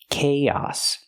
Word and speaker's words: chaos: It doesn't match the spelling. K-oss. Use the k k sound like cake plus the long A, kay, and then the ah sound like hot and stop, chaos.